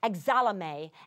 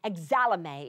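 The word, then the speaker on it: ἐξάλλομαι: That leaping up is a word that is in Greek, the lexical word is pronounced exalame, exalame. It even sounds like a wonderful word, exalame. It sounds like exalting, exalame.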